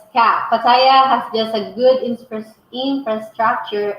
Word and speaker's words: Pattaya: In fact, the host of the video asked a Thai girl, "How do we pronounce this word?" And her response, Pattaya.